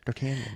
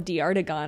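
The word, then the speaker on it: d'Artagnan: what it's not which I appreciate dartanian just dartan I think I called him de artigon or something is how it's spelled D I think there's a g in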